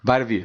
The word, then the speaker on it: Vita Vea: So it's going to be either Vita Vea. Mm-hmm. Am I saying it right? Vita Vea? Vita Vea. Vita Vea.